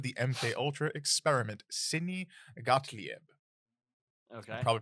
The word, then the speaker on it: Gottlieb: the head of the MK Ultra experiment, Sidney Gottlieb. Okay. I'm probably pronouncing that wrong. Gottlieb, yeah. Or Gottlieb. I don't know how to pronounce that. I think it's Gottlieb.